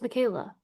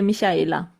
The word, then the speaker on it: Michaela: No, in Germany we say Michaela. Michaela. Michaela. Yeah, Is that right? the English speaking only German speaking people like Austria, Switzerland, or Germany can pronounce my name correctly. Wow. Because all the others say, in France, for example, they say Michaela. In Italy, for example, they say Michaela, and in the US, an English-speaking person always saying Michaela because they cannot pronounce the sh correctly.